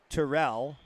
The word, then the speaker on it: Tyrell: MRI is matri okay Tyrell is Terell okay perfect perfect folks